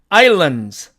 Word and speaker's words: islands: 자, 그 다음에 C번의 이 단어는 사전식 발음으로는 islands 이렇게 됩니다. 그러나 이 경우도 역시 이 드와 z는 조음점이 같으므로 앞에 있는 이 드가 생략되어서 결국 z만 남기 때문에 islands 이렇게 발음이 된다는 얘기입니다.